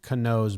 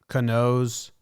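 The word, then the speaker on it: Canó: They have it as K-A-H, Ka, and then N-O-H, no. I get that part. But why do you need the H at the end? Why can't you just say N-O?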